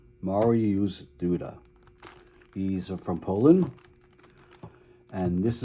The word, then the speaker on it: Mariusz Duda: I had to go to the computer and get a pronunciation a pronunciation guide because I wasn't sure how to pronounce his name, but the computer told me he was Mario Duda.